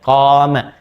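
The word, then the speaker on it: قام: Ingat qoma ya bukan titik qoma panjang bacanya qoma.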